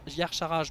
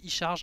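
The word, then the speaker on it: Y'Shaarj: yokaron Yar yarcharage mais je rappelle que les deux peuvent vouz prononcer comme vous voulez si vous voulez proncer y charge ça marche puisque ce langage n'est pas censé être parlé par la langue normale on va dire par les par les humains normaux donc il y a ktun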